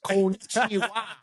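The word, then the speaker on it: こんにちは: So it's pronounced konnichiwa.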